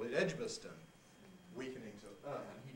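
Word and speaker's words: Edgbaston: he comes because he wants to call that edge bastard with a in this middle syllable well i must confess that i like most people call it edgboston weakening to earth and he didn't like that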